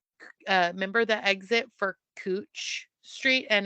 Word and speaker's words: Couch: remember the exit for cooch Street and it was spelled couch it was pronounced cooch and I remember like